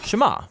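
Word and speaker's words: שמע: is hear or listen which in Hebrew is pronounced Shema that's where the prayer gets its name now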